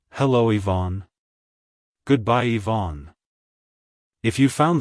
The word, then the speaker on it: Yvonne: to pronounce it correctly emphasize the e sound at the beginning and the on sound at the end like hello Ivonne goodbye Ivon if you